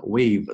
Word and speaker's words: we've: OK, 我们看一下第一部分。整篇文章呢，单词的难度比较小，对吧？还是比较容易读的，只是篇幅比较长，有些地方呢读起来呢比较拗口，OK，不是非常的容易把它连读下来。我们来精读一下，看第一部分，We've， OK，不要读成了 We have，肯定是错的，We've 缩写一定要读成缩写的形式，We've outfitted it，这里呢其实连读起来是比较难的，outfitted it，这个 t